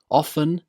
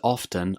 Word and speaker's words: often: Well, the simple answer is that both pronunciations, often and often, are correct.